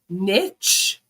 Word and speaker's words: niche: Niche? Niche? Am I saying it? Am I the one saying it wrong? I say niche.